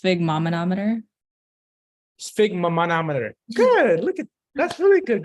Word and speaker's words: sphygmomanometer: I think it's pronounced sphygmomanometer. Sphygmomanometer. Good. That's really good. Great job. Does someone else want to try and attempt to say it? Alexis? I think it's pronounced sigmometer. It's sphygmomanometer.